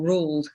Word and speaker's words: Roald: the script you know we all know roald dahl or ruled as as she called him which is a norwegian pronunciation i would like to point out i haven't just got it wrong um that is what